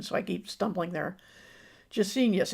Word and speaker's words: Gesenius: Gesenius. It sounds a little bit like genius.